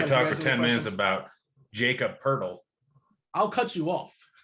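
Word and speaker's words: Jakob Pöltl: now if i talk for 10 minutes about jacob purdle i'll cut you off at least you pronounced it correctly congratulations i'll fire up your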